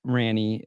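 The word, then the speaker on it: Rani: So yeah, shout out to Ranny. Sorry. Good Lord. Yeah. It's a weird name. Everybody, R-A-N-I. People pronounce it wrong if they've never heard it.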